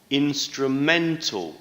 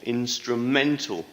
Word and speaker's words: instrumental: to the second syllable instrumental instrumental stress is on the third syllable i hope this video